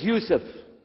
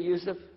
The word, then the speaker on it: Yusuf: we'll work on it inshallah my name is Yousef can you say Yousef say Yousef you're very good I wish You'